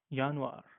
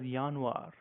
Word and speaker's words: Januar: we have slightly different we call this as yanir you know it looks very similar except why we call it as yanir as we know that J is pronounced as